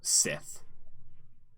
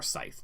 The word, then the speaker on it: scythe: a very wicked looking Sith or Scythe, depending on your pronunciation.